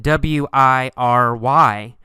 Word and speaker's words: wiry: see the word wiry it's spelled WI ry but in fact we say it with three syllables y ou re wiry